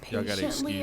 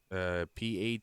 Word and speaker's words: patently: You said patiently absurd, but I don't think that's what that said. Patently. That's how it's pronounced?